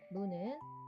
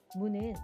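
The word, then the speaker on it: む: 무는 우리말 무와의 중간으로 발음합니다. 입술이 튀어나오지 않도록 발음에 유의하세요. 무도 발음을 듣고 함께 써 볼까요?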